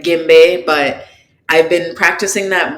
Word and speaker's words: djembe: I think in English people pronounce it djembe. Personally, we call it gimbe, but I've been practicing